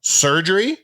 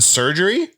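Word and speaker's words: Sergerie: surgery our GM yeah surgery yep like as in surgery yeah it's spelled not spelled like that s e r g e r or something s e r g e r i e he was great and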